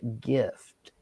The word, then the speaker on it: GIF: Giraffe versus graph or gif versus gift. I mean it it's GIF is literally gift without the T.